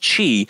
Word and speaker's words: Qi: the Qi write you a spell Qi it's pronounced Qi I'm like well now I got the wireless